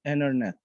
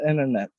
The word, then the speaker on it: internet: And also we have silent T as in internet. And actually I didn't find any other words with silent T, so it's the only one with silent T. Okay, so internet.